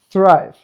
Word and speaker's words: thrive: You could you could say thrive, try to thrive, but no, it's thrive. Proper th we will record some